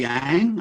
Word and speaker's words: Yang: i said not knowingly is that mary yang and the answer was young and it shut and all that and it opened up that was my introduction so okay so great start phonetically correct i loved it so now i know it's young molly can you tell